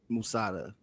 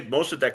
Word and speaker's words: Mossadegh: Isn't it pronounced Musada? No, I always say Mossadegh, and I've heard it referred to his name as Mossadegh as well.